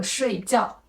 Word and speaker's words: 睡觉: 是声调，有一个很典型的问题是水饺和睡觉，因为发音不一样，听起来